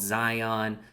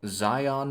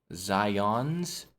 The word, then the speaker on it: Zion: Okay, if anybody listening calls Zion National Park Zion's with an S at the end, stop that. That's the bank. It's Zion's Bank. And I give so much shit to my fucking mother. Because she just will not stop the S.